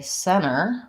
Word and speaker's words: center: the T for example if I say center Center with a long M it doesn't really sound like Center center Center short M Center this is what we want to avoid okay so that's kind